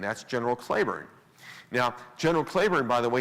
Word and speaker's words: Cleburne: general claiborne now general claiborne by the way his name is spelled exactly like the town of cleburne texas which is named after him but he pronounced his name claiborne and general patrick claiborne